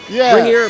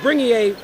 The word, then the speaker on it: Bringier: a very Americanized version you probably have a stronger G like a bringer bringier but it's bring a you know unless it's